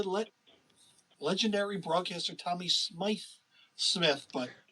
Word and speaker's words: Smyth: that decided to let legendary broadcaster tommy smythe smith but it's spelled spice tommy go so i don't know